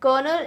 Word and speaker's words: colonel: His father was blank in the air force, his father was कर्नल, कर्नल इन the air force. दो कर्नल है, एक spelling हम already जानते हैं, COLONEL, जो कि एक रैंक है, राइट, आर्मी में, करेक्ट।